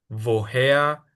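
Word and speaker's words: woher: b, que en alemán la mayoría de las preguntas importantes empiezan con la w, que es un v. Entonces es como vi, vojea, vas, varum, visó, vojin.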